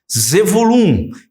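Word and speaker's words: Zevulun: falar sobre tribo de zebulon ou melhor zulum que é a pronúncia Hebraica e essa tribo pode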